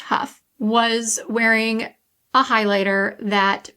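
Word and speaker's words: Hough: with the Stars, Julianne, I think it's pronounced Huff, was wearing a highlighter that people just could not get enough of.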